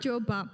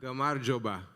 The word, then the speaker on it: gamarjoba: Gamarjoba. Gamarjoba.